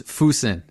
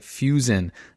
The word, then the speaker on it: fusen: And it is Fouseen. So, I will make sure to pronounce it correctly from I think I was calling it Fusen uh last last week.